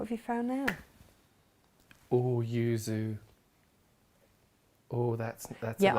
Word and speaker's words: yuzu: you found now oh yuzu oh that's that's yeah i keep mispronouncing that oozo that's a whole other